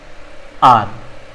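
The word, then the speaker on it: hour: apps D हा इन honest इस silent S इन आर जैसे ऑनेस्ट में एस साइलेंट होता है ठीक इस तरह से आर में हा साइलेंट होता है तो ये अपना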